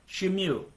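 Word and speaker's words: Shmuel: And now I'm going to every once in a while I'll pronounce it the way it's written in this Hebrew Bibles. S H M U L. Shimu. And in English we call it Samuel.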